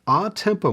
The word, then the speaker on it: a tempo: a new marking toward the end there's an odd Tempo marking that's how you pronounce it above the last line the first measure the last line ah Tempo simply means to return to the original Tempo